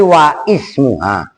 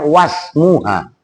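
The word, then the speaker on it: وَاسْمُهَا: Kan kamu tadi wa ismuha. Hamzahnya ismun itu hamzah wasol. Nah, kalau dibaca langsung dalam arti kan itu di tengah-tengah karena sebelum hamzah ada wawu. Jadi bacanya wasmuha.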